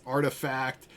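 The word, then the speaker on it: RTFKT: to say the name there guys it is artifact um and clonex by artifact and let me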